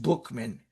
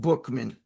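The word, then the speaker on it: Buchman: Frank Buckman, B U C Hm, and it's pronounced Bookman. I'm sorry, it's spelled Buckman. It's pronounced Bookman.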